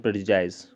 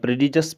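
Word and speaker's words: prejudice: Famous novel pride and प्रेजुडिस। इसको आप प्रेडिजस भी प्रोनाउंस कर सकते हो, प्रेजुडिस भी, ठीक है। प्रेजुडिस इज़ बेटर, तो उसी का एक पार्ट है।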